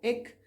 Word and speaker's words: ek: You can pronounce it either as ek or ik, depending on where you are in the country, and that is I.